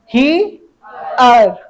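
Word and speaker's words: here: इसको हम लोग को इया पढ़ना है इया और आर का र जबकि इस इ का उच्चारण नहीं होगा अब कौन बच गया एच का हा अब देखो हा में ई जोड़ेंगे क्या हो जाएगा ही और फिर अर ही अर ही अर बुझे कि नहीं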